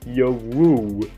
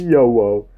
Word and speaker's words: YoWuW: It's basically YoWuW, but it's like, like pronounced differently. It's like the W silent and the U is treated like an O.